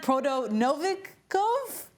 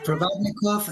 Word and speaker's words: Provodnikov: This was back in 2015 when you were reffing for Lucas Mathiase, I think I'm saying that wrong, and Ruslan Prodonovikov. Did I say it right? Provodnikov against Matisse.